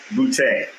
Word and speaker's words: Boutte: Is it Phillip Boutte? Boutte. Boutte. Yeah, if it's not funny, you're not saying it right.